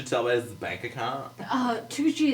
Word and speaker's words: Tucci: Tucci is spelled Twocchee. Tucci. Two. When people don't know how to spell it, I say two cheese, but without the Without the Swiss.